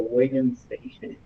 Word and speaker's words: Wittgenstein: Bueno, las tablas de verdad fueron creadas por Charles Sanders Peirce y Ludwig, ¿cómo se pronuncia eso? Wittgenstein.